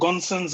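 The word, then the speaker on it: Gosens: Is it pronounced Gonsons or Gossens? Gossens.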